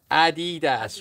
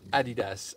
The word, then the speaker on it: adidas: exploring the camera um americans usually mispronounced as adidas rather than adidas uh adidas oh yeah